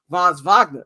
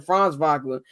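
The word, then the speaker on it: Franz Wagner: B Caro and now Von Vagner is out of the injury FR V France vogner my bad pronounce his name France vogner the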